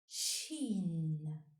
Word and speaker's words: ش: The 13th letter is pronounced Shin and is written from right to left on the line. Shin has 3 dots above.